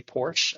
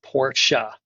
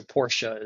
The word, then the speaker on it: Porsche: we started working with Porsche, I would say Porsche, a one- syllable word, but Porsche is a two-cllable word. It's the name of fairy Porsche who created the company, but it's it's definitely a twocllable word. Porsche.